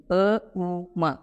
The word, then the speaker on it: ಓಂ: ನಗುಮುಖದೊಂದಿಗೆ ನಿಧಾನವಾಗಿ ಕಣ್ಣುಗಳನ್ನು ತೆರೆಯಿರಿ ಈ ರೀತಿ ಓಂಕಾರದ ಸರಿಯಾದ ಉಚ್ಚಾರಣೆಯನ್ನು ಅ ಉಮ ಇವು ಮೂರು ಸೇರಿಸಿ ಹೇಳಬೇಕು ಅದೇ ರೀತಿ ಇದೊಂದು ಪ್ರಾಣಾಯಾಮ